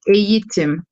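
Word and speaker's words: eğitim: Здесь «эйтим» мы читаем, например, между буквой «э» и «и», то есть это читается как «эйтим», но мы пишем как вот через мягкий «г».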